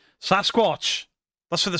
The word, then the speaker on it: Sasquatch: Sasquatch. That's where the spelling came from, I reckon. Mainstream media anglicized the pronunciation and called it Sasquatch.